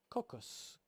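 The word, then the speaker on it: κόκκος: be translated kernel the greek word here is cocos k-o-k-k-o-s transliterated into english kappa omicron kappa kappa omicron sigma it's spelled in english cocc u.s in the fields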